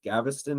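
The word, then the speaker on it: Gaveston: and his favorite uh Piers Gavveston I believe is how you say it.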